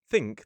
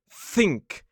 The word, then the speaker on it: think: Instead of making it think, they say think. Think. They hold the sound for far too long.